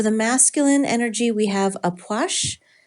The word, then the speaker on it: Ah Puch: masculine energy we have aash wow that is not the way I would think that that's pronounced um the key word